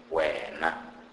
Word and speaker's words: wena: W is pronounced as oo, oo, and it is pronounced like the W in the word wow. For example, wena, wena, which means you in singular.